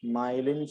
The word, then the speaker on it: myelin: that's a better word it's called myelin sheath my e lion myelin island sheath what's